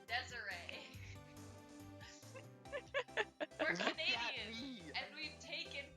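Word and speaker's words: Desirée: is i know it's desiree but it spelled desire no it's spelled desiree he's like he thinks it looks like desire no there's an accent on the e it's pronounced desiree we're canadian and we've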